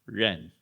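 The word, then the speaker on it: 仁: The pronunciation Chinese ren or Korean in it means human relatedness.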